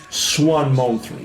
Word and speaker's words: S1MON: But as you can see, we spell it as S1MON. So please call her from now on, if you don't mind, Simone 3.